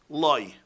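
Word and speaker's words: לא: Okay, the word loy is written in the Torah, lamed aleph, loy. It's pronounced lamed vav. It sounds the same, loy, loy.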